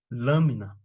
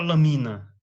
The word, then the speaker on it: lâmina: Os monossílabos, desculpa, paroxítonas, palavras cuja sílaba tônica é a antepenúltima, lâmina, público, paralelepípedo, certo? Você não fala lamina, nem laminar, né? publico, nem publicó, certo?